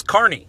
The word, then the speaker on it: Carney: It's Carney, like car and knee.